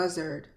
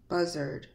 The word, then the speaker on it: buzzard: sound of er when AR is in a an unstressed syllable is pronounced R sound here the letter A R is pronounced as ER let's take a look